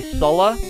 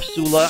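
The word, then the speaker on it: Sullla: A couple of players, one who goes by Sulla, S-U, 3 L's and then an A, or Sula, I think is how you say it.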